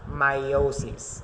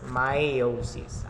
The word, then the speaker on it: meiosis: go on by purpose meiosis okay so it's pronounced as meiosis meiosis okay so uh in this discussion the main